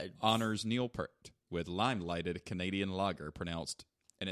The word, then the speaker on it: Peart: Steve, New Jersey's Carton Brewery, Carton, like Carlton with no L, honors Neil Peart with lime-lighted Canadian lager and it's pronounced Peart. Pear-T.